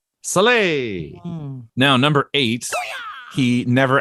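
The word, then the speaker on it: Salai: and then his uh his pupil slay which i think is how you say it here so s-a-l-a-i soleil now number eight he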